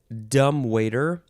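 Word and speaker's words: dumbwaiter: talk about dumb waiter d-u-m-b-w-a-i-t-e-r tagging on to all of our dumb words from the previous episode this one you could emphasize uh let's see the first syllable dumb waiter or the second syllable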